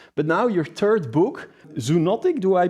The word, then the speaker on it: Zoonotic: other book influencers, but now your third book Zunotic, do I pronounce that correctly? Yes, exactly. Zunotic is perfect.